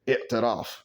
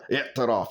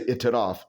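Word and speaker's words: اعترف: With that throat stopping sound, yeah, i'taraf. You got to say it like that, but they don't know what you mean. If you just say i'taraf because you're not Arab, they'll look at you like, what, huh?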